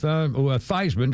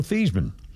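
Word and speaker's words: Theismann: They pronounced it Heisman to rhyme with Thyisman to rhyme with Heisman. And that but apparently his original name they call it was his name was Joe Thesman.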